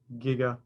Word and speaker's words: giga: g the giga and it is pronounced giga not despite back to the future okay so all three